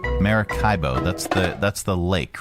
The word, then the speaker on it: Maracaibo: It's the same pronounceify lady. Maracaibo. Maracaibo.